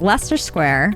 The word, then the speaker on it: Leicester Square: This is pronounced Leicester Square, while this area is pronounced Greenwich, not Greenwich.